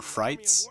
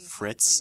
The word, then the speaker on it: FriteZ: name is or frights and people usually mispronounce my name like fritz and and fritis like that's even how